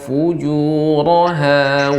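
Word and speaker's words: فجورها: Tadi kurang ya, dimantapkan lagi pengucapan dhammannya. Fu dengan dimonyongkan. Fa'alhamaha fujuraha wa taqwaha.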